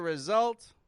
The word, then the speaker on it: result: 3 words that we've covered where S sounds like a Z. Easy, thousand, result.